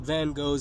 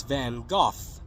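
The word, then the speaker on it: Van Gogh: a girl singing about van Go's sunflowers in Portuguese and laughed when she pronounced his name vanagi that's when Rebecca interrupted to correct me saying his name isn't van go it's van goof the rest of us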